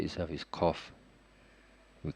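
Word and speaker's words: قَ: For example, 21, the letter itself is Qaf. We call it the letter itself, the name is Qaf. But when there's a Fathah on top of it, the pronunciation is Qa.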